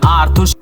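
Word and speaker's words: Arthur: आर्थुर छोटा रहता है, वैसे उसका नाम आर्थर है, मेरे को पता है, मैंने जानबूझ के आर्थुर किया क्योंकि वो आंसू के साथ राइम करता है, और कुछ लोग आर्थर को आर्थुर भी प्रोनाउंस करते हैं।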